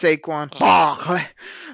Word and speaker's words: Saquon: little respect and it's sequan B you got to say it like a a Baptist preacher it's saquan um this guy this guy's